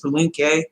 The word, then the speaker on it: Palenque: I think it's Palenque, Mexico. That's how it's pronounced.